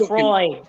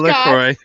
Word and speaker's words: LaCroix: It's called That's just LaCroix.